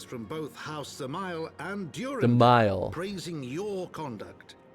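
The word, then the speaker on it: Dzemael: a son of house zile zile you don't pronounce the d a brute how quickly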